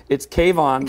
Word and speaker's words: K-von: Kayvon.